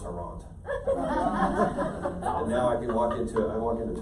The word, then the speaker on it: Arant: I didn't really know my dad, so it's just there's an Arant or Rant or Arant. So I just one day I said, you know what, it's Arant.